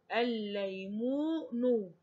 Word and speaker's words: الليمون: أبنائي انتبهوا معي، إحنا لا ننطق الألف واللام اللي هي لام الشمسية، ولكن الكلمة كلمة ليمون بدون الألف واللام. ليمون، أول كلمة ليمون إيه؟ حرف اللام، فأنا لا أنطق اللام الشمسية، ولكن أنا بنطق اللام الموجودة في أول الكلمة، عشان زي ما إحنا قلنا